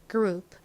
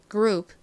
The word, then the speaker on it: group: 나는 o u gr 마지막 소리 나는 p group 따라해 보세요 group group 좋습니다 지우고 써보 을게요 확인해 보겠습니다 먼저